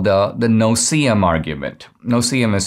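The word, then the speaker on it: no-see-um: argument that is called the no cm argument no cm is spelled n-o-s-e-e-u-m the no cm argument it's kind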